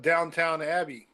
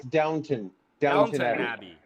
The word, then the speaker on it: Downton Abbey: No, my wife likes that Downtown Abbey, and I'm like, man, that's not even downtown. That's like out. You have to say it right. It's Downton Abbey.